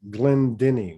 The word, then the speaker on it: Glendinning: Jennifer Glendinning. Is that how you pronounce it?